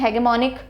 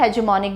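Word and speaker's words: hegemonic: अब देखो इसको अलग अलग तरह से प्रोनाउंस कर सकते हैं, हेगमोनिक भी होता है, हेजेमोनिक भी होता है, ब्रिटिश और अमेरिकन इंग्लिश का डिफरेंस है, सो कैसे भी प्रोनाउंस करो।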